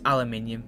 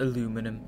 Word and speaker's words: aluminium: American vocabulary besides aluminium it's aluminium it's not aluminum what they they couldn't be bothered to pronounce the extra eye I mean if you're